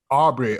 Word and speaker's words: Arbery: Arbery, okay.